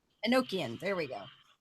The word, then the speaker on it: Enochian: the Satanic Bible written and I'm gonna probably pronounce this terribly in a language and no chin is that right Enochian Enochian there we go it's around the time of